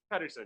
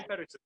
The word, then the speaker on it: Pederson: But just look up, how do you pronounce his last name? Is it Pederson? Pederson, yeah, Tommy Pederson.